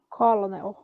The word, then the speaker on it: colonel: Colonel. Colonel. Que não tem. Fala colonel, mas não tem um R.